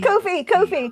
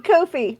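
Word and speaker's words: Ko-fi: hope for that face it rhymes with no fee Kofi Kofi I'm very tired I've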